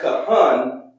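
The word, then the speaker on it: כהן: ancient hebrew language and write this word preach which is pronounced kahan cuff hun in hebrew so with that we're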